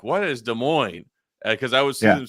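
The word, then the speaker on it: Des Moines: in our state capital the great de Mo not Des Mo E or anything de Mo you know I was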